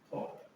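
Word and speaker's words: thought: थॉट, थॉट, what, सब कॉट, मतलब क्या होता है इसमें, थॉट, यू साइलेंट रहता है इसमें, ठीक है।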